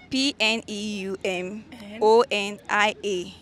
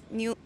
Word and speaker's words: pneumonia: P-N-E-U-M. O-N-I-A. Okay. New. What kind of human being is this? Monia. Pneumonia. Yeah. Sure. Yes. Where did P come go? That P is silent. So it's pneumonia.